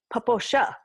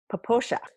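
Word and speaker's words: Popo Agie: i e but that is not how it's pronounced it's poosha poosha like the boys I guess I know and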